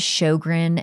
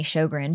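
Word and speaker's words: Sjogren: to be going by my last name is shogran and it's spelled SJ o g r and that's a hard name to like it does not look like it doesn't sound like it's spelled and so I didn't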